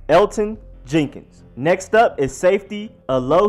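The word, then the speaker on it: Elgton Jenkins: hairs been their center Elton Jenkins yes the G is silent that is crazy I never would have guessed I was over here like Elkton LD told it was crazy I was lost but in fact is Elton you just ignore the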